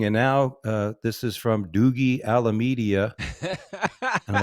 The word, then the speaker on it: Dougie: I don't know how anybody can look at my name, Dougie, and pronounce it Mhm. Doogie.